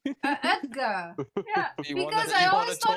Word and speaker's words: Oetker: Why do you pronounce that as a G? I don't know. That's how it's pronounced. Edgar.